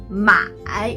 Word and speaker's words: 买: First, 买 The third tone, you can move your head like this to pronounce the third sound.